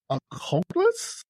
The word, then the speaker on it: occultus: So the occult, from the Latin word occultus, is that how you pronounce it?